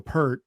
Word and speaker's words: Peart: Neil Peart or I should say Peart, I believe is how it's pronounced.